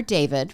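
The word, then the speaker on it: D4vd: They had heard that the singer David, remember that's spelled D, the number four VD.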